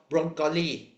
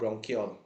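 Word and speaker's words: bronchiole: Okay, and then the next one is called broncholi. No, it's called bronchiol. I purposely pronounce it as broncholi. Why? Because it does look like broccoli, only in red color Okay, and then the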